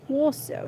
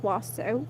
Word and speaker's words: Warsaw: Let's see how to pronounce Warsaw. Not Warsaw. Warsaw.